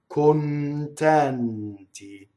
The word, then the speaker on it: contenti: Contenti. We need both N's in this word. Notice the first N leading into a T, second N leading into a T. Contenti.